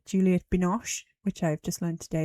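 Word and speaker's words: Juliette Binoche: Um, and as I said, Juliet Binosh, which I've just learned today is how you pronounce her name.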